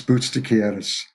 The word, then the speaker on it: Boutsakaris: Sharpe, Dennis, and again, you're going to have to help me with the pronunciation of his last name. Is it Boutsakaris? It's Dennis Boutsakaris.